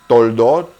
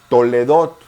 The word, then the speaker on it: Toledot: de las personas dicen Toldot, usted dice Toledot? No es cuestión de pronunciación si nos apegamos a las reglas gramaticales. Después de la jolam, la O, los dos puntitos siempre suenan.